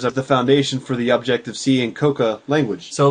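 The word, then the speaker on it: Objective-C: pronunciation of this language people don't want to say it's Objective C because what are you objecting to right it is objective c because when it was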